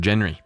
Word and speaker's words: genre: Pronounce or it. nuclear. Yeah. Well, like genre of music. Yeah. Like a I Genner. only just saw it on my computer, so it was a genre.